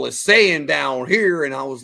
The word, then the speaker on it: Saiyan: when he first was reading for Goku he pronounced it San because he's like yeah s a i y a an and Barry Watson was like no we call this saying down here and I was like this close